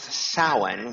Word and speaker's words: Samhain: a m ha a i n but it's pronounced saan which is Gaelic um is the height of